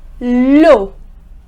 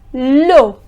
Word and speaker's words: l'eau: Next, l'eau. The word is l'eau, which means the water.